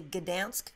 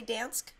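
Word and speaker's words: Gdańsk: Apparently, you're supposed to not really pronounce the G and say Gdansk. Supposedly, you're just supposed to say Dansk.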